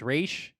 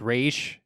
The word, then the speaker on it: Ra's: It's just like, it's Ra's. It's Ra's.